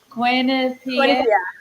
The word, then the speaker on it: Quinnipiac: talking about this and correct me how I pronounce Quinn P. Yes. Okay. Yay. Because I I was like I don't want to butcher it, but um you know with Quinnip Pier being considered a mid-